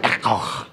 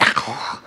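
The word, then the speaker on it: ἔχω: It's actually echo. You got to say it like that, echo.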